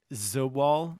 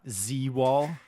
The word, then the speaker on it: Zobal: not be an issue it's zobal not z-wall don't don't backseat my